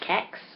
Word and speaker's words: CeX: So we have in the UK these shops called CEX, which, depending on how you say it, you can say SEC. It's like Kex. I'll just say CEX because it makes less chance of saying something wrong.